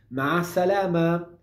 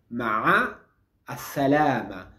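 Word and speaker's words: مع السلامة: despedirse por ejemplo tenemos ma salama ma salama que significa chao ma salama ma salama todo junto ma salama es el equivalente al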